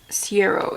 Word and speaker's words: Siero: Siero is how you pronounce the brand.